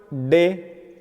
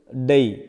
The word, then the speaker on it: day: So Indian people pronounce this word day, d and a. So the word is pronounced d and a, day. But Britishers, they pronounce it with a diphthongs. So their pronunciation is day, means d, then a and then e.